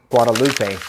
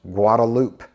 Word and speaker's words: Guadalupe: get started with those for example you'll say Guadalupe when actually it's pronounced guadaloop okay another one is maaka it's not maaka